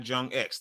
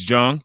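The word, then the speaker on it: JongX: Excuse me, it's not Jong. It's just Jong, not Jong X. The X is silent. All right? X is silent. It's Jong.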